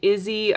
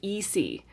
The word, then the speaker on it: Isi: I've seen Izzy, I've seen, but it was very serendipitous on YouTube that I just happened to catch an old clip from either like an ad or from the old web tune show where she actually says, "Hi, my name is Eie." That's how you pronounce that name.